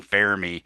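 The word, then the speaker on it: Fermi: Uh that's me saying fairmy in an attempt to try to pronounce it in an Italian way because Enrico Fairmy was a Italian physicist and uh he was brilliant.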